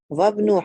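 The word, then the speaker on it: وابنُ: When Ibn comes in the middle of the sentence, the alif becomes silent. Bismillah. Bismillah ar-Rahman ar-Rahim. Ibnu Muhammadin fil Iraq, wabnu Hamidin fil Hind.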